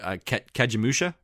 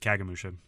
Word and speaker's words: Kagemusha: I think, I don't know how you said it, Kagemusha, his other color movie. That might be how you pronounce it. Yeah, I always pronounce it Kagemusha.